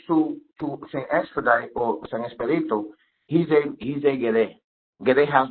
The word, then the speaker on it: Expedito: I'm assuming that of Spanish descent because when I look it up, it's pronounced as Expedito. Expedito, that is correct.